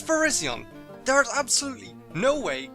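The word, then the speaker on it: Virizion: no okay come on there is no way this Pokémon is pronounced Verizon come on no it's Verizion there is absolutely no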